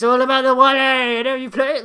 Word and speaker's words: Wale: Wale. How do you say it? Wale. I just said it. Wale. You pronounce words incorrectly almost every day of your life.